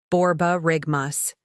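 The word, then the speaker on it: borborygmus: is on love overload word three borar rigmas pronunciation borar rigmas meaning the rumbling sound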